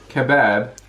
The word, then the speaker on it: kebab: Kebab is spelled K-E-B-A-B. And it's pronounced kebab. But in America, It's spelled with an O. an O, and they call them kebabs. Kebabs. So we're both right.